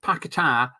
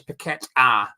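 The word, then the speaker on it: Paquetá: do you pronounce it is it paketa or is it petta and he said it's a bit both really it's petta so it's like Peta is how he likes know I just call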